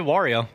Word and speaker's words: Wario: How do I pronounce it?" Did I did it wrong again, didn't I? No, you did. Wario.